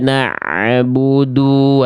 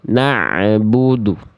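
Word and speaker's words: نَعْبُدُ: Na'budu karena bunyi ain sukunnya ada suara tambahan berupa e di ujung pelafalan ain sukunnya. Na.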